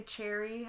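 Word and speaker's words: Choerry: Because I say Chori obviously with the O there, but when I did my little thing Lovely Apple had done where it was like, how do you pronounce everyone's names? A lot of people are like, I just say cherry. I ignore the O.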